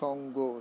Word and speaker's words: সঙ্গ: যেমন আমরা বলি সঙ্গ, হ্যাঁ, উচ্চারণ সঙ্গ, সঙ্গ, অঙ্গ, অঙ্গ, অঙ্গ, ভয়ঙ্কর, ভয়ঙ্কর, ভয়ঙ্কর। হ্যাঁ, ইয়ো, ইয়ো, এর উচ্চারণ অং হবে, এর বাংলায় উচ্চারণ করবো সঙ্গ, সঙ্গ, অং, অং, সঙ্গ, অঙ্গ।